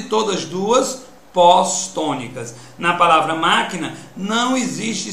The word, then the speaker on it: máquina: Existem palavras como, por exemplo, a palavra máquina, que a sílaba tônica é má. Apareceu quem depois? Que, na. Duas sílabas átonas e todas duas pós-tônicas. Na palavra máquina não existe sílaba pré-tônica.